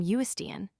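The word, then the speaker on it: Uisdean: But the Gaelic name Uistian, pronounced something like ocean, is most likely intended as a rendering of Hutchin.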